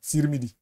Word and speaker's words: Tirmidhi: The Nigerian Muslims like me to say Tirmidhi. Jamia Tirmidhi. But I'm used to pronouncing it like in the English, T-I-R will be T in English. So I call it Jamia Tirmidhi, 2134.